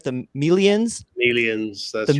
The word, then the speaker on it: Melians: are going to attack am I going to pronounce this right? The Melians? Melians, that's right.